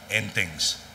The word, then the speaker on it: Entings: Ang hindi lang puno ho yung restaurant na kinainan namin, ang pangalan Entings. Ang spelling ho, E-N-T-I-N-T-I-N-G-S. Ang pronunciation sa Bacolod ro, Enting.